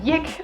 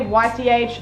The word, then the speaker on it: YCH: one is another acronym i pronounce it yik i know some people just say ych i just say yik it's easier it stands for your character